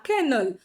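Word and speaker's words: colonel: ಕರ್ನಲ್ ಮಾಡಿ ಅದನ್ನ ಬರೆಯೋದು ಕೊಲೋನಲ್ ಫ್ರೆಂಚ್ ಇಂದ ಕರ್ನಲ್ ಆ ಕರ್ನಲ್ ಹೋಗಿ ಕರ್ನಲ್ ಆಗಿ ಕರ್ನಲ್ ಆಗಿ ಇವಾಗ ಕರ್ನಲ್ ಆಗಿ ನಿಂತಿದೆ ಈತರ ಈ ಶಬ್ದ ಬರೋದು ಫ್ರೆಂಚ್ನ ಮತ್ತು ಈ ಒಂದು ಇಟಾಲಿಯನ್ನ ಎರಡು ಸ್ಪೆಲ್ಲಿಂಗ್ ಮತ್ತೆ ಉಚ್ಚಾರ ಮಿಕ್ಸ್ ಮಾಡ್ಬಿಟ್ಟು ಗಿರ್ಮಿಟ್ ಮಾಡ್ಬಿಟ್ಟು ಅದನ್ನ ಕರ್ನಲ್ ಮಾಡಿದ್ದಾರೆ.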